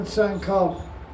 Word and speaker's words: Sankalpa: It's called Bhajan Sankalp. It's spelled Sankalpa, but it's pronounced Sankalp.